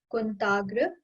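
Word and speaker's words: कुन्ताग्र: So first word is kuntagra. So we'll split it. Kunt means spear. Kunt. Agra.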